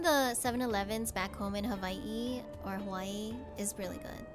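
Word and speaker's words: Hawaiʻi: A lot of people say Hawaii. But in Hawaiian, it's Hawaii. Like with a V.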